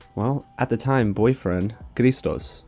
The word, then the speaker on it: Christos: at the time, boyfriend, Christos. He's Greek. That's why I'm pronouncing his name like that.